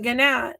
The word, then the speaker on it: gnat: So knife has a silent K in it, but gnat has a silent G in it.